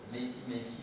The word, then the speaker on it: Makey: Donc vous voyez c'est Makey, là je prononce à l'anglaise, je vous le mets de façon visible.